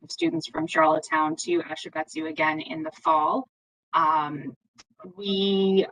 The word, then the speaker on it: Ashibetsu: I can't, Ashbetsu Student Exchange, Laura Lee. Get Laura Lee to pronounce it. I know. Ashibetsu. I said Ashbetsu there.